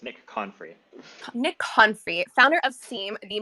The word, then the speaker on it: Confrey: It's Nick Confrey.